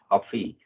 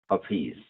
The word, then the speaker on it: Hafiz: Hafiz. Hafiz. Tar Okay. Meher Baba ki Jai. Thank you. Hafiz. Yeah, I'm also Hafiz. struggling to remember to pronounce it like that every time.